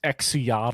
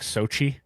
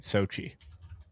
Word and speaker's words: Xochitl: and it looks like if you're a native English speaker looking at it, it looks like X- Xiatl or something. And I think it's pronounced like Sochi.